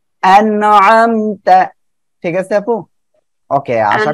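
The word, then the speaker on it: أَنْعَمْتَ: যাচ্ছে এটা হয় কি আইন রয়েছে আইনটা গলাটা চেপে উচ্চারণ হবে আনআমতা ঠিক আছে আপু ওকে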